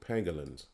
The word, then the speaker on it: pangolins: I was correct pronouncing it. Pangolins.